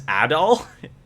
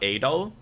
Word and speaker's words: Adol: is felgana hold on we've been saying his name wrong this whole time his name is adol not adol interesting i was hoping